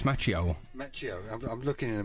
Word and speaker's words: Macchio: Macchiano. No, it's not. No, it's Macchio.